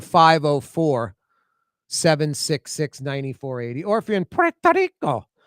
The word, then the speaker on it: Puerto Rico: You just, if you're speaking Spanish, roll the tongue, Puerto Rico. Yes. But if you're speaking English, Puerto Rico.